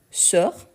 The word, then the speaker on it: sors: Du coup, on a je sors, tu sors, il, elle, on sort. Donc, ici, on a le S qu'on ne prononce pas.